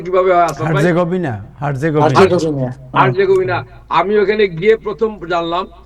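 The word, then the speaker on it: Herzegovina: Bosnia একটা চমৎকার নতুন রাষ্ট্র, বসনিয়া হার্জেগোভিনা, কি উচ্চারণটা কিভাবে হয়? হার্জেগোভিনা।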